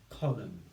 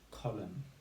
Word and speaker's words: column: So you should have noticed that we've got the MN spelling again. So what you should have done is you should have said the sounds to build the syllables into that section. So we have column, k, a, ka, l, a, lum, column. lum, column, with that MN spelling of the sound.